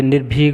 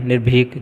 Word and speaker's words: निर्भीक: क्या मतलब है इसका निर्भीक तो निर्भग बोलते हैं निर्भीक ज्यादातर लोग ये ये वाला उच्चारण करते हैं तो ये गलत है ठीक है नोट